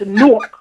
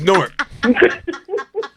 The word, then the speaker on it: Newark: You do not pronounce Nork. It's Nork. Thank you. I said Nork. It's Nork. Like fork.